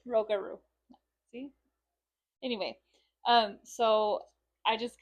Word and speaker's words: Rougarou: I think I've been pronouncing it right, but I just want to make sure. Like the Rougarou?